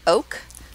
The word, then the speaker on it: OOK: I'm going to pronounce it oak, but they're O-O-K.